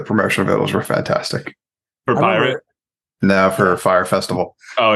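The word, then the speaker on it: Pyrt: new uh a new company now it's called pirate it's spelled p-y-r-t and it's basically the exact same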